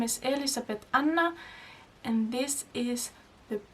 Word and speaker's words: Elísabet: guess as I said my name is Elizabeth Anna it's an Icelandic name that's why I pronounce it like I do but you can call